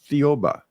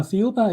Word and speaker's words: Thiaoouba: about and I cannot figure out how to pronounce it. So I I'm sorry. Theoba. Theoba. Yes. Can you tell us about that prophecy? Well, uh Theoba is actually the name of the planet in